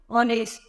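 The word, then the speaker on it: honest: जैसे word form में ऑनेस्ट, यहाँ पर सभी में एच जो है वो साइलेंट, और ऑनर, ऑनररी, ऑनररी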